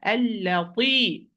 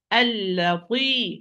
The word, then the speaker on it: اللطيف: some will commit mistake, because after lam we have a heavy letter. So do not allow the heaviness of the ta affect the lightness of lam. Allah, al-latif. اللطيف, not Allah.